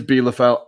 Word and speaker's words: Bielefeld: In the Bundesliga, I sat and watched Dortmund absolutely destroy Arminia Bielefeld, as I was told this weekend. I've been saying it wrong. It is Bielefeld, as Jadon Sancho has broken another record.